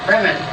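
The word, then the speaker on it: Brehmn: is hard to pronounce, Bremen. They call it the Bremen, but there's no E between the M and the N.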